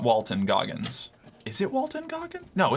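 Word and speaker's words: Walton Goggins: It's Walton Gogggins. No way. Oh my god, it is. I've been saying his name wrong this whole time. Walton Gogggins.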